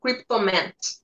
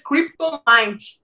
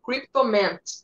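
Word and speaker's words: Kryptomint: Amen Cryptomant. Até o Johnny, né, que me falou aí a pronúncia certa dele. Tá certo agora, Johnny? Ah, tá corretíssimo. Eu falava antes Cryptomind, mas não é, né? É Cryptomant.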